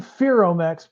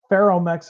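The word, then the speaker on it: Ferromex: I'm saying Feromex because somebody lit me up in the comments a while ago and said Feromex is not how you pronounce it, it's Feromex.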